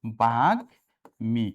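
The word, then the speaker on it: বাগ্মী: আমি বললাম কি যে বাগমি কথাটা এই দীর্ঘকারটা রস্বীকার হবে এবং এইখানে ভাইয়া এ গ এর সাথে ম যুক্ত আছে তাহলে ম এর উচ্চারণটা হবে তাহলে কি হবে আর যুক্ত বর্ণ কি হবে ভাইয়া আলাদা হবে তাহলে কি হবেবা ভাগ মি। কি হবে ভাইয়া বলতো? ভাগ্মি। ঠিক আছে?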